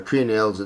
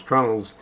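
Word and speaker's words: treenail: Now in this particular case, they were called trunnels or tree nails. The word is spelled T-R-E-E, tree nails, but I think it's referred to more as trunnels.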